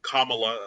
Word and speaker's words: Kamala: And uh but and then of course we had you know Maya coming again as Kamala as we I've learned recently it's pronounced Kamala like yeah one one of our followers on